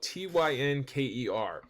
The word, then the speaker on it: Tynker: It's spelled Tynker.